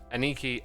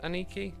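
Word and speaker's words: Anneke: Because Aniki, I think her name's pronounced Aniki. It's sort of spelt that way.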